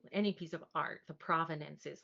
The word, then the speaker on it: provenance: And of course, I'm gonna mispronounce it, but Provenance. Like, so the he keeps Providence. calling it Providences.